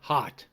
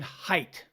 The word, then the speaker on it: Haidt: Jonathan he's saying Jonathan hot it's not Jonathan hot it's Jonathan height there are many websites you can go to that say this is how he pronounces his name Jonathan height not hot he doesn't know the